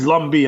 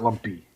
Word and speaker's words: Lumbee: And it's Lumbee. I'm sorry, not Lumpy. It's Lumbee tribe.